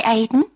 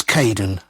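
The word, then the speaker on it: Kaeden: welcome to the team hi Aiden uh it's Caden I'm so sorry don't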